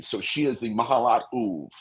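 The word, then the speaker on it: אוב: So she is the Mahalat Uv. Is how it's spelled O-B, but it's pronounced the Uv.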